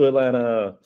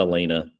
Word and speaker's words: Alana: Kudos to Alana. And by the way, I always like to say, Alana, her name is pronounced like the city, Alana, not Alana, not Elena, Alana.